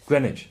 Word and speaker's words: Greenwich: was in London yeah and you say great Greenwich wint Greenwich and Herbert's I didn't know how